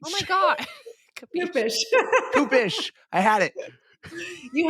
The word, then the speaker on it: Kupish: Kupish. Oh my God. Kupish.